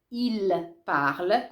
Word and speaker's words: ils parlent: persona plurale dell'indicativo presente, lo pronunciate così, il parle, come egli parla, ma lo dovete scrivere in questo modo, ils parlent. E quella quel suono ENT, e N e T tutto insieme, è muto. Sono 3 lettere che non vengono mai pronunciate.